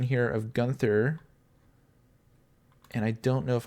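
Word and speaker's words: Guenther: go gunther um the i believe the e is silent gunther um so that's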